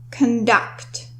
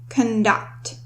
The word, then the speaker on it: conduct: So the stress in this word is on the second syllable, conduct, conduct.